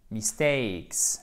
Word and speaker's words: mistakes: I'm sorry for my mistakes. Exactement. Et c'est pas mistake, c'est mistakes. C'est une diphtongue avec un accent tonique sur le A. Mistakes.